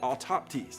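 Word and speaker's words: αὐτόπτης: You say it autoptes, okay? And I believe that's the way you say it. And it's similar to our English word autopsy, meaning the investigation that happens after someone dies.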